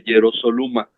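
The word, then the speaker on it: Ἱεροσόλυμα: constante el uso de hierosoluma. Bueno, podemos buscarlo un poco después, pero en este caso los dos son igualitos, ¿eh? Sí, Hiero, hierosoluma. Tiene el acento en la ómicron, ¿no?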